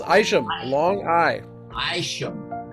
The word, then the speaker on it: Isham: special interview today mark isham now am i pronouncing that right mark actually it's aisha long eye shame right it has its roots